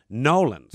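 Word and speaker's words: New Orleans: I tell you one thing, if it wasn't for the membership, I would have been bummed out, but I was in Nolans. That's how they pronounce it.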